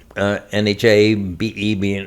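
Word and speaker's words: Nhà Bè: We were at Nha Be, Nhabe. Notice how I say Nha Be. It's Nha Be.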